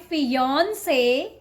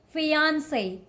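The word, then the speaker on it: fiancé: This one, don't call it fiance. Okay, not yawn. The correct way to say this word is fiance. Fiance. Ance.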